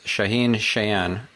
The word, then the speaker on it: Shaahin Cheyene: stephan spencer and today i have with us shaheen chan am i pronouncing that correctly absolutely all right awesome so